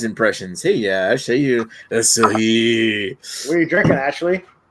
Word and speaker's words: Asahi: He's like done my- I'm pretty sure that's pronounced Asahi.